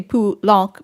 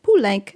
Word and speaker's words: Poulenc: That's the thing about like Poulenc too. Like if it's a French name of a composer, Poulenc. But it the way that it's spelled phonetically in French should be Poulenc, but the family always said Poulenc, and that is the pronunciation the proper family pronunciation.